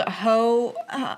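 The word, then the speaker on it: Heaux: I was thinking uh what's it called? Ho um it's called Ho House. Ho something. It's spelled like H E A U X.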